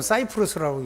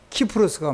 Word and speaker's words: 키프로스: 근데 구브로 키프로스에 가가지고, 어떤 사람은 사이프러스라고 읽기도 하고 키프로스, 나는 구브로, 성경 헬라어 언어 표현들 하면 키프로스가 맞아요.